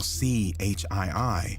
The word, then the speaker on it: CHII: The name WVTTZ, pronounced Watts, paid homage to an LA neighborhood, while CHII, pronounced C.Hi., signified his affiliation with the Crips, a notorious street gang.